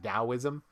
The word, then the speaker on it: Taoism: tower of schwarzenegger yeah it's pronounced with the d last i checked even though it's the letter t it's like taoism i told kevin where